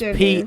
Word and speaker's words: Pflugerville: You're in the it's Pflugerville. PF. PF. I was like I knew a P had to be in there. Was it That's like when my cat touches a keyboard. Like what? F L U. Oh no, just one F. Just one F. Always Yeah. forget that. PFLUGERVILLE. Now the rest of that makes sense, but that P throws everybody.